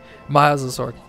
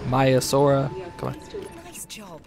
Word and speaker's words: Maiasaura: my mice or whatever I'm gonna continue to say the name wrong Trevor seems like I'm never gonna get it right okay my Azure or my still she said it right there but Maiasaura noise job thank you